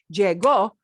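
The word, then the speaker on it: llegó: learned that yet but jego is not diego diego especo with no accent on the o is i'm doing it right now but jay go with an o on the end and an accent on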